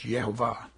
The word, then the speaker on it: Yehovah: There's no J in Hebrew, so it's Yehovah.